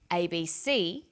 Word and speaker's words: ABC: Notice that each letter in the abbreviation is pronounced separately, but the last letter is pronounced more strongly because it carries the primary stress. So we say USA, ASAP, ABC, and TV.